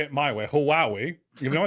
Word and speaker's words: Huawei: Huawei. Close. Huawei.